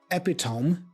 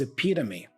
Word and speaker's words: epitome: not the correct pronunciation, not because you are mispronouncing the sounds, but simply because you are not placing the stress in the right place. The word here is epitome.